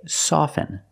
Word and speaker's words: soften: words soften and often with both words I don't pronounce a t i say soften and I say often but sometimes you'll hear people say often and it's not wrong it's okay people say both often and often I prefer often now